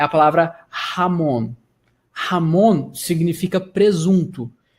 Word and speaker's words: jamón: Todas as palavras que você vê com J no espanhol, você vai pronunciar dessa maneira. Um exemplo aqui de cabeça que eu falo para vocês é a palavra jamón.